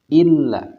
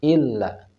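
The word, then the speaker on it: إِلَّا: Za tanazzalu warruhu atau dalam lafaz illa nah ini pun perlu diekan illa Kenapa yang setiap huruf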